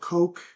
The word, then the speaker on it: Koch: of this, I have a little company called Coke Pipeline that's offered us $25 million of equity and have offered us the use of their 55,000 miles of right of way. Yeah, this little company, Koch, is spelled Koch, AOCH, known which as Koch